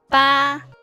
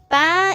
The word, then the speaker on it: 八: Ba. Ba is the same pronunciation as father. Although for father is fourth pronunciation is ba. But for 8 is ba.